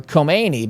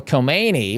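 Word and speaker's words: Khomeini: If you can even hear me say the difference there. And I don't speak the the language but I mean they're they're pronounced very similarly.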